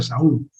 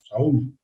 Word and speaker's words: Saúl: Saulo, bueno, Saúl, se pronuncia Saúl, Saúl.